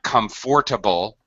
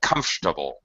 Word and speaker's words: comfortable: sometimes so for example not comfortable we say comfortable we drop it same thing like a